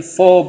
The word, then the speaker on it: four: Tapi untuk di depannya ada konsonan, huruf mati, R-nya tidak diucapkan, not pronounced. Berarti four bananas. Ya, itu cara pengucapannya.